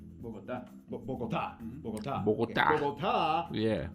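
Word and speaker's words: Bogotá: Diego, did I pronounce that right? Bogota? Nope. Bogota. Bogota.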